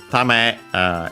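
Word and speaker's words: 為: Tame is a noun, accent on the last mora, which means good, advantage, sake, purpose.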